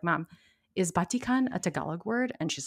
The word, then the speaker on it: batik: the other indonesian words my guess is that they mostly use short vowels like they do in tagalog i think it's the same in spanish too so you have your your ah e o and u instead of a e i o and u so batik would be batik and not batik i'm definitely not an